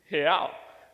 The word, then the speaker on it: real: See, in Portuguese, the way that you say real is real. So let me teach you how to say it. So on the count of 3, let's say he. So it's he, but without the e sound.